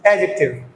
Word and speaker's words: adjective: This word is नॉट एडजेक्टिव, this is एडजेक्टिव। D silent here और slightly pronounced, so इट इज एडजेक्टिव नॉट एडजेक्टिव।